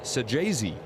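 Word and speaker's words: Saggese: extends the top of the second to Thomas Sajayzi. I thought you did that nicely there, Dan. Thank you. I I He's got two G's in his name, but pronounced with a J apparently.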